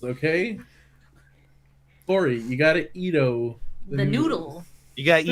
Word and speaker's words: Edo: Edo. Oh, sorry for the mispronunciation.